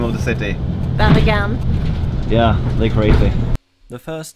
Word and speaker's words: Bergen: I want to ask, how do you pronounce the name of the city? Bergen.